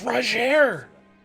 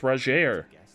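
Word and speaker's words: Rogier: i like your hat it's roger his name is pronounced rajeer i'm looking for a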